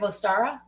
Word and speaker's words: Ostara: is the discovery of ostara oh which i think is actually basically pronounced like easter yeah it can be